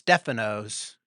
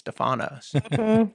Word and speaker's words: Stefanos: Technically, it's Stefanos, but Yeah. in Florence, it's Stefanos. So- Yeah, exactly. Kind of changed. Yeah. Yeah, We call it Stefanos also.